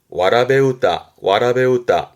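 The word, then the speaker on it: わらべうた: 근데 발음이 와라베우다.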